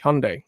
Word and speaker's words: Hyundai: By the way, I think the actual pronunciation is Hyundai. The Koreans, that's how they say it.